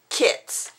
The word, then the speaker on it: Cri-Kits: These are the Cricut pens, and that's Cri-Kits, not spelled like you would spell cricket.